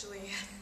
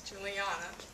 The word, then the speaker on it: Julianna: name is julianna it's really not pronounced julia it's juliana i'm an 11th grade